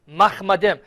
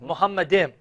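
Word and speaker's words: מחמדים: Let us assume it's Muhammad, just because the term in Hebrew, Mahmadim. Now notice how he pronounced it, Muhammadim. Yeah. More accurately would be Mahmad. Mahmadim, which comes from Mahmad.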